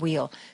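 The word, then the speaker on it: Weil: to be talking to Josh W or just wheel I'm sorry he pronounces it wheel Democratic candidate for Florida's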